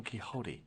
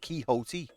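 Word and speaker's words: Quixote: titles apart from an ancient edition of Don kote that's how you say that's how you say it kote what the Old Testament tell you B your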